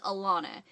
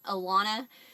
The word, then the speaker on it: Alana: a big deal but to properly pronounce it it is Alana it's super close to elen but just I always tell people think of it like like a lawn like you mow the lawn Alana um it's actually